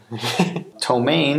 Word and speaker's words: ptomaine: jail there Jimmy Jim with the chili tank ptomaine is spelled P T oh ma I and eat